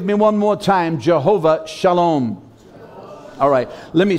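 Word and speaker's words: שלום: spelled in the Hebrew SH Al om it's spelled s al om s al om and the S is pronounced with an SH sound and that's actually called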